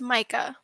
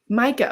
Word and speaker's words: Micah: though because Elise you said how did you pronounce it it's Micah Micah okay Micah Monroe um yeah so it stars